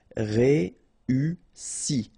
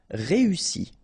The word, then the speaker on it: réussi: Réussi. Okay, first you get this E, then U and double S, so really strong S and E. Réussi. Réussi.